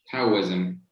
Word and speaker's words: Taoism: Taoism. Taoism. Zam. Taoism. Yes. Taoism. Zam at the end.